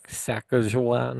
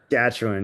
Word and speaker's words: Saskatchewan: I think she's from like Sakan or however you pronounce it. Saskatchewan.